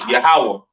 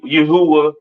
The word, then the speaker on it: Yahawah: so on right so the lord's name is yahawah not y Yahweh or or not Yahweh all right yahawah to the left of